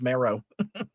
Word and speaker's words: Marrow: My last name should be Marrow. It should be pronounced Marrow.